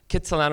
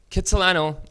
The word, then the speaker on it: Kitsilano: Argost Jack cut Solano Kitsilano is kind of like the anglicized pronunciation of his name do you know I